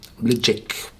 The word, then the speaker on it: Ledaig: it here but the natives of the Isle of mul where the toari uh Distillery is call their whiskey liic I'm not no native